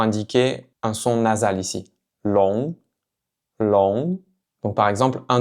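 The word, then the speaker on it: 龙: Encore une fois, faites bien attention de ne pas prononcer le G à la fin. Ne dites pas long. Long. Donc c'est simplement pour indiquer un son nasal ici. Long long.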